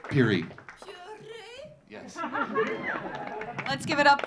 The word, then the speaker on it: Pirie: And my name is Peary. Peary. Yes. Let's give it up for. I'm not going to try to pronounce his last name.